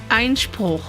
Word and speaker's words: Einspruch: Einspruch. Einspruch.